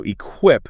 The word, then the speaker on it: EQUIP: So eQuip. That's E-Q-U-I-P. Okay. Pronounced like equipment, but without the marshment.